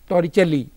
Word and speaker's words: Torricelli: an Italian and the for the pronunciation the Torah celli law and what is